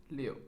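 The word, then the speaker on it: 六: a lucky number because six in Chinese is pronounced as Leo which sounds similar to flow which means things going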